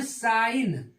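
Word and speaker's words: sign: एस आई जी या इसको हम पढ़ते है साइन साइन जी इसमें क्या है साइलेंट है यानी क्यों क्योंकि एन के पहले आया है य जी ऐसे ही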